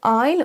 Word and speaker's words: aisle: Donc le aisle, on s'en sert donc dans ces deux cas de figure, l'île et pour dans l'avion, mais à chaque fois le S est silencieux.